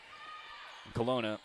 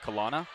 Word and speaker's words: Colona: A, which you'd imagine would be pronounced Kana. I said, "Hey, how do you pronounce your last name? Is it Kana or Kina?" And she goes, "Oh, it's Colona." Like Corona with an L.